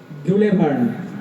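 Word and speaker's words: Jules Verne: এই বইটি কার লেখা জুলেভার্ন সঠিক উত্তর জুলেভার্ন জুলভার্ জুলেভার্ন দুটো উচ্চারণেই কারেক্ট সঠিক উত্তর জুলেভার বা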